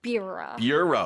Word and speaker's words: bureau: 여기에서 I always have trouble pronouncing the word bureau.